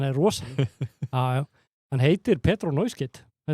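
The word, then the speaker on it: Pedro Neto: rosalega Hann heitir Pedro Neuskit Borið fram Neuskit Já, það er Silent S Neuskit Neuskit í nafnum Mamma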